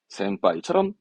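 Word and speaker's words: 先輩: 뭡니까 동그랗게 반타 금으로 해서 동그랗게 붙는 거 센빠이처럼 했던게 원래 그겁니다 요거는 그렇죠 심 발음의 신 배는 하이 신배가 아니라 우리말로 걱정이잖아요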